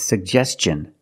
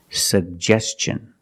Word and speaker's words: suggestion: suggestion that's right it's suggestion because the tin is after an S make the hard CH sound like chicken suggestion let's look at the